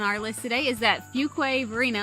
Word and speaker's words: Fuquay-Varina: on the town of Fuquay Varina I call it Fuquay just for E's sake but it's technically yeah it's technically a few Quaver right now so from